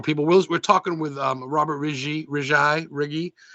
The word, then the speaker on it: Righi: We're talking with Robert Righi. How do you say it again? I'm Riggy, sorry, Righi. Riggy, Riggy.